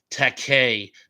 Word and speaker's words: Takei: Tom Lemery says, not to be a jerk, George's last name is pronounced Takei.